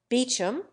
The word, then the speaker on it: Beauchamp: John Poole for Powell Weems for WHMIS cardigan for Cadogan Mowbray for Marlboro key for Keynes Marchbanks for majora banks Beecham for Beauchamp Chumlee for chow monthly trolley for